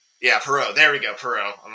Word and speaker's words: Poirot: actor being I'm trying to pronounce it, Hercule Poirot. It's like a French name or something like that. But anyway, Hercule the main Poirot, yeah. Yeah, Poirot. There we go, Poirot.